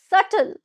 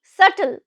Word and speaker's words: subtle: prodigy word number nine word number nine is subtle subtle now repeat after me subtle subtle be is silent over here be is silent now this